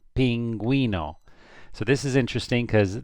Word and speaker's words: pingüino: What do you do with a U with 2 dots? You always pronounce the U. So this would be pingüino, pingüino.